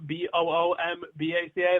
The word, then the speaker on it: Bumbaca: Follow me on Twitter at Bumbaca, Boombaca. That's not how I spell my last name. That's just how you say it.